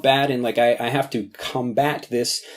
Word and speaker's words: combat: have to combat this combat. There are two pronunciations of this word, Combat is like the noun form of it, where you're talking about battling things, and the verb form is to combat something.